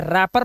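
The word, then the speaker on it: wrapper: नहीं, इसे रैपर पढ़ते हैं। इसलिए W डब्ल्यू साइलेंट है।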